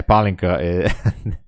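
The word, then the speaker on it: pálinka: in the world with a good trade yeah palinka uh Hungary Hungary confy trator yeah something like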